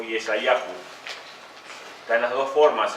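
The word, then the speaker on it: ישעיהו: Se puede, en hebreo se pronuncia Yeshá o Yeshayahu.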